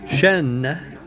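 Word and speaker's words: chêne: The difference in pronunciation, Shen, you don't pronounce the N, that's dog. Shen, you pronounce the N, that means oak, like oak tree.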